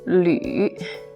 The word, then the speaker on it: 吕: This one, first of all, is pronounced as 吕.